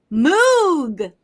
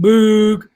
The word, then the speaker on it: Moog: And I mean, his name is Bob Moog. So Moog. Like Moog. Got it. Kenny, what's your answer? Yeah, so people pronounce it both ways, but Bob Moog started building theremins, the thing that goes like, woo!